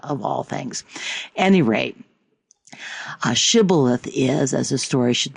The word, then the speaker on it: Shibboleth: If he replied no, they said, "All right, say Shibboleth." If he said Sibboleth, because he could not pronounce the word correctly, the Gilead seized him and killed him.